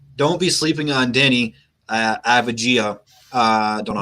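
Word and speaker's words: Avdija: Abdia, man. Don't look at the letter. Just say Abdia.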